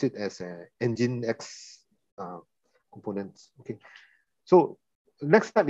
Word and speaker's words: Nginx: So this is the you pronounce it as Nginx components.